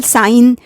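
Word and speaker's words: sign: इसी तरह से जी के example, साइन, डिज़ाइन, रिज़ाइन, असाइन, foreign, campaign, यहाँ जी साइलेंट है।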